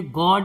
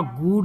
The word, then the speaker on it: good: इसके बाद है GOOD, इसे गॉड या गुड नहीं पढ़ेंगे, इसे क्या पढ़ेंगे, गुड।